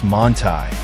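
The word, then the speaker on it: Manthey: to start the day the manthy kit pronounced monai transforms an already formidable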